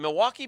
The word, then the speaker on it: Milwaukee: Is it Milwaukee beef? I wasn't sure. Yeah, actually, it's pronounced Milwaukee, which is Algonquin for the good land.